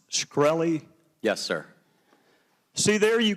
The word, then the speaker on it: Shkreli: chairman is it pronounced shkreli yes sir see there you can answer some